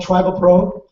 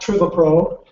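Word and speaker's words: Trivapro: a new exciting product it's called tribal pro not trivia pro our swiss folks like to have names that can go each way but uh try to approach the correct pronunciation and you can remember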